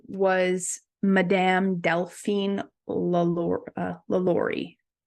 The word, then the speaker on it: LaLaurie: What was I saying? I think I was saying it wrong. Anyways, the correct name of it was the LaLaurie mansion. Right. I think it's because I read it so many times. You said Laura Lee.